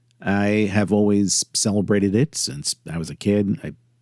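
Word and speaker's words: Samhain: I don't celebrate sin or Sam Hayne as some pronounce it.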